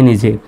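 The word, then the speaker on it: know: প্রথমে যদি থাকে তাহলে এই কে এর উচ্চারণটা সাইলেন্ট হবে তাহলে কে এর উচ্চারণ বাদ দিয়ে করেন এন ওডবউ নৌ ন মানে হল জানা সঠিক উচ্চারণ নৌ স্বাভাবিকভাবে আমরা নো বলি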